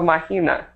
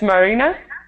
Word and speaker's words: Marina: Marina Marina Marina oh mahina maybe did I say it right no Marina with r it's Marina Marina okay I think I'm